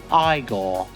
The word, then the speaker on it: Igor: here and it is so sick now it's pronounced igore their new releases are like a brilliant Blast